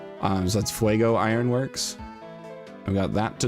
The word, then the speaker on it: Fuego: So we got Fuego Ironworks, which when I was a kid I pronounced it Fugo. Because I didn't understand that other languages existed when I was a little child. So that's Fuego Ironworks.